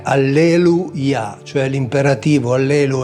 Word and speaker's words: alleluia: Tra l'altro la forma Yah è attestata sempre in un termine che molti pronunciano senza conoscerne realmente il significato, che è, come diciamo noi, alleluia. In realtà è alleluia, cioè l'imperativo allelu è lodate Yah, cioè lodate Yahweh.